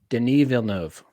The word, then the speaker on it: Denis Villeneuve: All right, the official pronunciation: Denis Villeneuve.